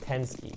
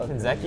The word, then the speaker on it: Tensky: Op said it's pronounced Tensky. Tensky? Tensky. Okay, I see it. I like Tenzeki, yeah. but I mean, I'll say Tensky if it's correct.